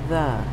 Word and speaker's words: the: E usually says E at the end of a short word, but in this word it says The.